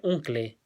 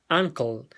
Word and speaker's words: uncle: Ya, en este caso, uncle no se pronuncia uncle, sino que, como ya pueden haber notado, esa U se asemeja más nuevamente a una A, ¿ya? Uncle.